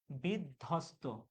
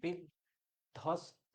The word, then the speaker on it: বিধ্বস্ত: দেখো বিধ্বস্ত, এখানে বয়ের কোনো উচ্চারণ হচ্ছে না, ব ফলার কোনো উচ্চারণ হচ্ছে না। বিধ্বস্ত, এখানে বয়ের ব ফলার কিন্তু কোন উচ্চারণ হচ্ছে না।